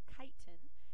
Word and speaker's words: chitin: vegetables and then lastly we have kite it's pronounced with a que not a CH so it's chitin and these are used this is a type